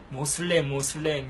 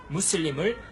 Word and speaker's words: 무슬림: 모슬렘은 이제 아랍어 무슬림을 영어권 사람들이 미국에서 모슬렘 이렇게 쉽게 자기들 영어 발음대로 한 거예요.